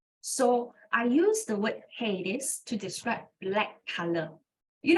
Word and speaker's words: Hades: This is how you pronounce Hades.